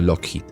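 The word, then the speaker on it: Loughead: ellos eran Alan y Malcolm lad pronunciado lock hit un apellido que cambiarían más tarde para evitar errores de pronunciación los dos nacieron en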